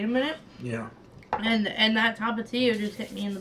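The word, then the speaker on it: Tapatío: Yeah, Tapatio, yeah.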